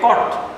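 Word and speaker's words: caught: CAUGST, এটার উচ্চারণ হবে কট, CAUGST।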